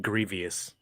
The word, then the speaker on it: Grievous: I believe you pronounce it Grievous.